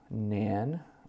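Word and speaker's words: Nain: to the Village of Nan or sometimes pronounced N I think Nan is correct and a large crowd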